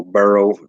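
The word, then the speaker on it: Burreaux: him boro you know burrow and spell it b-u-r-r-e-a-u-x that actually may be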